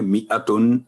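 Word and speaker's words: مِائَةً: میئتن الف نہیں پڑھا جائے گا، تو وقف کرتے وقت میئہ تائے مربوطہ ابھی بات ہوئی ہے، یہ 2 نقطے ختم ہو جائیں گے اور تنوین کی جگہ آئے گی جزم میئہ.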